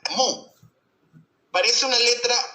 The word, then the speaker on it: mu: Mira, el vector momento dipolar se lo representa con una letra griega que se pronuncia sea mu, como el mugido de una vaca, mu.